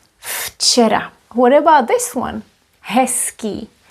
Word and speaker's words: včera: Včera, včera. But this is a letter V, V. In other words, this is read as V. But here it is F, včera.